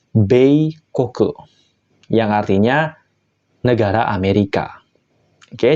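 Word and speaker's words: 米国: negara Kuni ya minasang maka dia akan dibaca be koke yang artinya Negara Amerika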